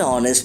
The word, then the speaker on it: honest: An honest person. An FBI agent. An MP. In hourly and honest, the letter H is silent, and the first sound that comes is A and O, which are vowel sounds.